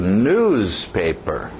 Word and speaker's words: newspaper: Continuando, o próximo, cuidado com o ritmo, batida no início. Newspaper, newspaper, newspaper.